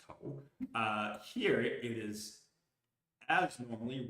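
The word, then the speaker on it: 口: Let's take the character for mouth, pronounced ko.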